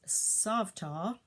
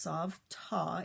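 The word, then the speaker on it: savta: to just made one my grandmother name is soft ah SAV tah and it's pronounced soft ah it's actually the Hebrew word for grandmother pretty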